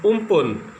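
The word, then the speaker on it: Amphan: अम्फान pronounced as उम्पुन means sky.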